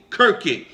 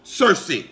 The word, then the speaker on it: Circe: across the word or the name Kirky, sometimes pronounced Circe.